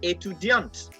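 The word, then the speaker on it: étudiante: suisse to deonte etudiant remember for the male i didn't pronounce the t but for the female student i pronounced the t so you have to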